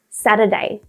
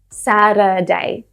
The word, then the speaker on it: Saturday: When said quickly, that T turns into a D sound. A soft D, not a stressed D. So I use a T-flap. That's what this symbol is here. It looks like an R without the extra line. So it's just like this. Instead of Saturday, I say Saturday. Saturday. So it's not Saturday. It's not a stressed D. It's really soft.